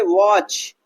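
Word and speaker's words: watch: लेकिन यहां पर टी क्या होता है? साइलेंट होता है।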